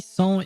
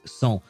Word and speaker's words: sans: I don't know what that means, because for me, sans is an actual word, but in French. We pronounce it sans and not sans or something.